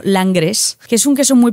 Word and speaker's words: Langres: Pues mira, hay un queso que se llama la se escribe y se se pronuncia en castellano Langres, que es un queso muy pequeñito, también tiene un aspecto así como bastante inocente, ¿no?